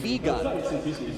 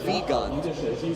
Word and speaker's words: Wiegand: And I'm happy I have the chance to say my friend's name properly. Stefan Wiegand. There we go, that's how it's said in Germany, Wiegand.